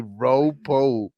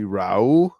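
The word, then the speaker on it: Raúl: Like I didn't just hear you fucking call somebody Ropo. Can't forget the junior. It's say after me, Raul. Bro, I know how to say his name. Bro. Nigga said Rapu.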